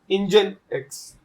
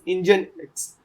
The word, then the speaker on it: Nginx: for proxy so there is this term called engine X I know the spelling is bit different than what it is pronounced it is known as engine X so it's a very popular framework it is